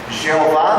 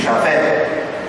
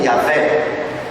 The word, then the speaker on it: Javé: pronuncia o seu nome, que não é Jeová, como dizem certas denominações protestantes. Jeová não existe, existe Javé ou Yahvé. Jeová é uma invenção posterior, 1000 anos depois de Cristo.